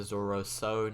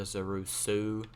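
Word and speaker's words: Zorrusso: It's the Zorosu, not the Zorusu.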